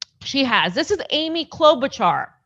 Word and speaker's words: Klobuchar: has this is amy klobuchar right she's a great leader of the progressives you gotta say her name right it's amy klobucha amy klobucha so she said hearings